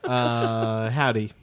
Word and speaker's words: Hovvdy: Howdy. Not the hello. The band Howdy. They spell it dumb like a bunch of other bands.